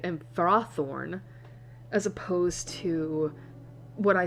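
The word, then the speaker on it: Ferrothorn: So I was like, what is it actually like pronounced as? And apparently it's far and fered. Fro seed and frothorn as opposed to what I said earlier and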